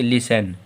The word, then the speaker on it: listen: LISTEN में देखें तो शब्द के अंत में TEN आ रहा। अगर शब्द के अंत में TEN आए तो हम लोगों का T साइलेंट होता है। हाँ भाई, T साइलेंट हो गया क्योंकि TEN आया आखिरी में तो T साइलेंट है। अगर T साइलेंट है जो इसे क्या पढ़ेंगे? लिसन, इसे क्या पढ़ेंगे?